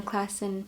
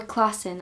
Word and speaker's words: Klassen: And anyway, I think what John Klassen, or Klassen, I always say Klassen, but you pronounce it Klassen.